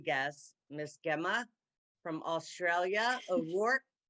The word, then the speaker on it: O'Rourke: O'Rourke, am I pronouncing your last name correct, Gemma? O'Rourke? Ida, the last name is correct.